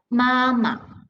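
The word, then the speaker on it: 妈妈: ma over there right but the second word no tone mark is the neutral tone so they read as mama okay you read faster in a smaller voice okay so read after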